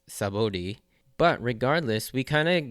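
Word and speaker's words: Sabaody: really call it anymore I mean in Japanese it's shabi but in the English romanization as well as the spelling it's sabod but regardless we kind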